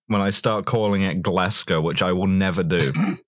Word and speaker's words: Glasgow: i start calling it glasgow which i will never do let's go yeah like glasgow or like different rhymes with tesco yeah yeah i have